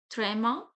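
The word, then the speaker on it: tréma: We pronounced it trema and the pronunciation of E will be same.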